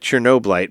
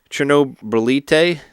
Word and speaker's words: Chernobylyte: But it looks like Chernoblyte, but actually the way you pronounce it in the game is Chernobylyte. Is the way they say it in the game. Chernoblyte? Like Chernobylyte. Chernobylyte. So like Chernobyl. So Chernobylyte.